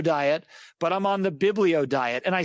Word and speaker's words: Biblio: but I'm on the Biblio diet. And I said that just verbatim almost like I'm going to say something that kind of rhymes with Paleo, but sounds like Bible.